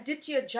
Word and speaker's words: Aditya Jaikumar: is a podcast star, Aditya Jaikumar, right? Yes. Did I say it right? Yep. Aditya Jaikumar. That is perfect.